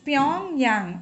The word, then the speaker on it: Pyongyang: So the capital is Pyongyang, okay. So as it is a little, if you find it difficult to pronounce it, just you remember that this is Pyong and this is Yang. There are two friends.